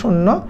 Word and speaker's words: শূন্য: বেলা হবে প্রভাত বেলা, শূন্য শব্দের উচ্চারণ হবে শূন্য, সন্ধি নিষ্পন্ন শব্দ হচ্ছে বারেক, বরযুগ এক, এটা হচ্ছে বারেক, ক্ষণযুগ ইক ক্ষণিক।